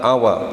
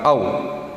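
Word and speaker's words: أَوَ: Cara nyusunnya karena istifham itu di depan akhirnya cara bacanya begitu dibaca awa bukan au.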